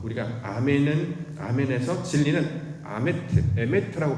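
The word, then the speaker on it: אמת: 나아갑니다 모양도 어 우리가 아멘은 아멘의 진리는 아메트 에메트고 발음을 하는데 단어가 똑같고이 아멘을지나 진리로 나아간다 이렇게 설명을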